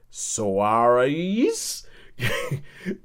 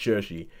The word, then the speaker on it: Saoirse: trying to pronounce it, I was like, Soares? But eventually you know that it's Saoirse, it's pronounced Saoirse.